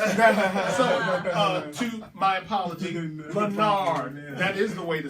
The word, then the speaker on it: Leonard: I want people to understand that it's spelled Leonard, but he's got that exquisite way of saying it. You gotta say it. You gotta say it. There's no E in it.